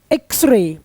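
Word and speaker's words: X-ray: तो यहां पे एक्सरे एक्स ऐसा इसका प्रोनाउंसिएशन होना होने वाला है। और सबसे इंपॉर्टेंट है कि एक्स यानी कि ये इसका साउंड है वोवेल का और वोवेल का होगा साउंड।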